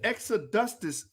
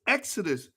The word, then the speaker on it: Exodus: extra dusters movement that what is the extra dustus it's exodus ah i'm sorry i'ma